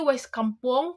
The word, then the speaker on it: Wai Kampung: Mungkin kalau teman-teman bacanya mungkin seperti biasa sekampung. Tapi kalau orang Lampung asli pasti bacanya Wai Kampung. Ada sedikit penekanan di sini.